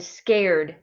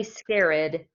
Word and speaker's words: scared: me scared okay good how many how many syllables are in scared grandchildren yep it's just one syllable even though it's kind of a long word and it has two vowels in it it's just one syllable we do not say scarid okay it's just got one syllable all right guys so